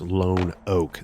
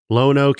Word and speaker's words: Lonoke: This week we are heading down to Lone Oak, spelled like Lenoke, but I believe it is pronounced like Lone Oak.